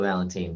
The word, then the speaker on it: Valentin: I think do you pronounce that Valentine? Yeah, it's Valentine, but Yeah, but you hear yeah. Without that E on it, we tend to want to pronounce it differently.